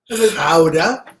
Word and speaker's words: Gouda: So we had a nice hunk of Gouda, properly known as Gouda. That's right. Well, really? So Vincent van Gogh is properly pronounced as Vincent van Gogh.